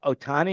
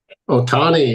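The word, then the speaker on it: Ohtani: about this guy this uh so high oh Otani am I pronouncing his name right Otani yeah Dodgers that seems to be I mean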